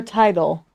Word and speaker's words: Tidal: tight, like title Title. or Tidal. Title or Tidal? Tidal. The Tidal.